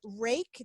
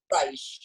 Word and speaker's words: Reich: And is Rake? Did I say it correctly? are you here? I'm here. How do you pronounce your name? Reich. Reich.